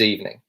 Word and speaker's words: evening: be good luck, good evening. And also, a really good tip for you to sound even more British is you would kind of hear people dropping the G sound at the end of evening.